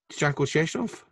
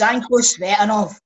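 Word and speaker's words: Tsanko Tsvetanov: Shanko Sheshnov. Can you stop that, by the way? How do you pronounce it? Embarrassing him. It's Shanko Svetanov.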